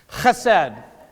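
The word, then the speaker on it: חסד: So the first concept I want to talk about, I'm going to practice my Hebraic pronunciation, chesed.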